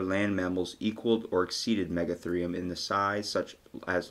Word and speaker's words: Megatherium: It's spelled rheum, but it's actually, like, pronounced Megatherium.